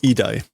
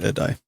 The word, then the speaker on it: 偉大: Oh, idai, not edai.